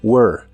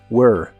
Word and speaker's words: were: was la palabra were se pronuncia como were pero con la lengua retraída o jalada hacia atrás y suena como were were un poco como monstruo